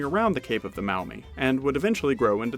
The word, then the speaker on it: Maumee: Now, this Miami River was later renamed the Maumee, close to the original Shawnee pronunciation.